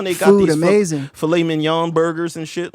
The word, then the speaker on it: filet mignon: I thought it was Flaming Young.